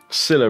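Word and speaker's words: Scylla: on the go scilla rhymes with villa i think i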